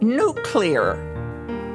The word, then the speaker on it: nuclear: For instance, the word nuclear. Don't put an extra U in it. It's not nuclear.